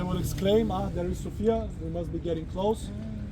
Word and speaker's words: Sofia: The pronunciation actually is Sophia, not Sophia just to differentiate between the words, but that's a detail.